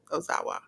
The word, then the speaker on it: Ozawa: Daga and uh Ozawa is that how you pronounce it o Ozawa yes so that was on that show then